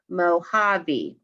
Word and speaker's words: Mojave: when a text is telling you how to pronounce the word mohavi it is north america's smallest desert it lies